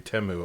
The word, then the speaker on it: Temu: be like, hey, does Temu have this? And she'll be like, yeah, dude. Although, at the Super Bowl, we learned it's supposed to be Temu, apparently.